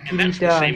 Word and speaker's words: kereta: Final a is usually pronounced as a schwa in Malay, at least in Malaysia.